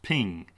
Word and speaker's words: PNG: though for screen use png stands for portable network graphics pronounced ping ping files support 24-bit